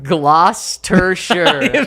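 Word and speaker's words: Gloucestershire: if zack ends up reading this comment it's pronounced gloss tur shirt you were right there i was thinking like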